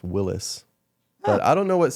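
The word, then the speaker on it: Willys: with an S like w i l l Ys so like if you see if you see on like the hood of a Jeep where it says Willies it's allegedly pronounced Willis but I don't know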